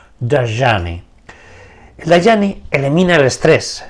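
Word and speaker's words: Dhyani: el the jny thean se escribe d h y a n i y se pronuncia en snit daani el daani elimina el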